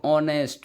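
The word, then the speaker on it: honest: Question number 20 ही is dash ऑनेस्ट मैन। तो वह एक ईमानदार व्यक्ति है। तो यहां पर एन आएगा। यहां पर एच साइलेंट रहेगा तो ओ से पढ़ेंगे।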